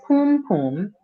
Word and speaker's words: Pum Pum: Well, first of all, I'm gonna correct you on the pronunciation. Oh, please do. It's Pum Pum. It's Pum Pum Rock.